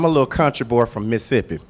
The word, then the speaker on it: Mississippi: So I'm a little country boy from Mississippi. Now natives, we say Mississippi, we cut out that middle syllable. Nobody got time for all that.